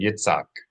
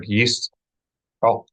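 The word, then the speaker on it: יצחק: Do not make the common mistake of saying Yitzhak, completely obliterating the consonantal sound of the letter het. So not Yitzhak and not Yitzchak, but Yish'ok, Yish'ok.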